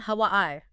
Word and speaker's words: Hawaii: 3 syllables. Stress on the second, Hawaii. You got it. Hawaii.